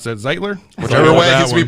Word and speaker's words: Zeitler: I don't know how you pronounce that. Zeitler?